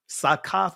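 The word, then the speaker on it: סוכות: Sakath is the proper pronunciation. The ancient biblical paleo pronunciation of what of the word that transliterates to tabernacles.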